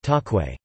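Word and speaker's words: cakwe: In Indonesia, the fried dough is known as kakwe, pronounced takwe.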